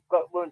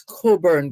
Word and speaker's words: Cockburn: £4 in a month to cockburn penny, somebody come. Come on, pronounce it the right way. It's Coburn Gardens.